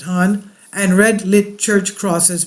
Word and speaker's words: Han: The Han River flows through the center of Seoul, Han, they pronounce it Han, and red lit church crosses burn above the city.